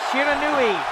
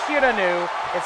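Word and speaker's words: 不知火: Shinjidai, Sunrise, Shiranui, if you insist. Never Shiranu, it's pronounced Shiranui. It's a Japanese word, it actually has a pronunciation.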